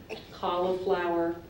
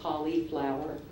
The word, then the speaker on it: cauliflower: t correct your word has a couple pronunciations as well I'm going to give you two of the more common ones cauliflower or cauliflower cauliflower c a u